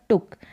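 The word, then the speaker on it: took: छोटा भी होता है यहां पर टूक डबल ओ का साउंड शॉर्ट में आ रहा है टूक होता तो लॉन्ग में आता लेकिन वो गलत उच्चारण है टुक का मतलब टेक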